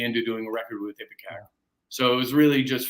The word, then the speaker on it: Ipecac: And how did your album on Ipecac? Am I pronouncing it correctly? No, Ipecac.